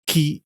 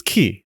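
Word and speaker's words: 気: In Japanese, they're pronounced sei, ki, and shin.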